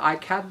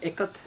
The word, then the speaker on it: ikat: is kind of called the ikat design or a cut as it's in its actual pronunciation and these motifs that